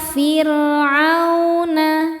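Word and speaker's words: فِرْعَوْنَ: Ila firuna fir ro sukun dibaca tarqik karena sebelumnya baris kasrah dibacanya tipis. Firuna.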